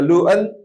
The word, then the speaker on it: Luton: itu ada stunst ada luen tulisannya luton bacanya luen tnya mubadir luen itu waktu saya